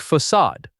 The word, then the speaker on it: facade: The final syllable rhymes with the word odd but with an a sound. It sounds like facade.